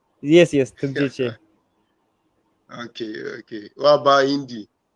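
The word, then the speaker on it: ཐུགས་རྗེ་ཆེ: Tukjeche. Tumjeje. Yes, yes, Tukjeche. Okay, okay. What about Hindi? Hindi, Dhanyawad. Danewat. Oh, Tunjeje.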